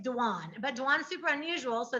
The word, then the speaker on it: Dwan: it's my life and people call me dawn all the time and i hate when people mispronounce my name it's like yeah it's dwan but dwan's super unusual